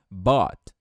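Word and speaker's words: bought: bater é como se esse ugh não tivesse pronúncia então bot quer dizer o quê comprou ibot quer dizer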